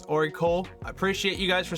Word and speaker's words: ORICO: And I just realized I've been pronouncing their name wrong the whole entire time during this video. It's Oracle.